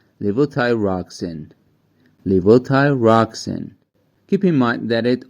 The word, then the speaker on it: levothyroxine: tuned first of all let's see how its pronunciation is it's Lio Ty rocken Li Ty roxen keep in mind that it also has a few other or less common pronunciations like levo thyroxin warning warning warning never use LEL thyroxin as